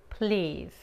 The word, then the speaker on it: please: Please. En esta palabra, la Z se pronuncia como la Z en inglés y no la S, ok? La E es muda.